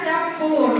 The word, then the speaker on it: spoon: Kalau dalam bahasa Inggris dou O itu bacanya U ya. Berarti bacanya gimana? Ada yang tahu? Spon. Spon. Spon. Spon. Bukan spon batu piring ya. bacanya kalau daftar o itu berarti bacanya U jadinya sepun ya.